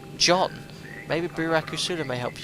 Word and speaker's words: Can: Can is pronounced like John.